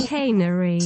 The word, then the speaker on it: Chicanery: চিকানিরি, Chicanery. চিকেইনারি, চিকেইনারি, চিকেইনারি, চিকেইনারি, সিএইচআই, সিএইচআই, সিএএন, Chicanery. সিএইচআই, সিএএনইআরওয়াই, সিএইচআই, Chicanery. সিএএনইআরওয়াই, চিকেইনারি, সিএইচআই, Chicanery.